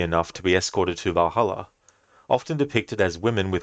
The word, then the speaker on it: Valhalla: Or Valahaha, as the meme now goes, based on the fact that someone mispronounced Valhalla.